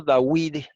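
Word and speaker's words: דוד: porque él a bing se puso dawid y no da vides a porque en hebreo antiguo así era que se pronunciaba y miren la evidencia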